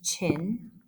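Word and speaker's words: Qin: guy right here this guy's name is chin and i know it's a queue but you say it like a c so that's shi wandi and he was the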